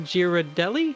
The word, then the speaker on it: Ghirardelli: I don't know how to say the chocolate brand Ghirardelli. Is that correct? Oh, Actually, that's- Ghirardelli.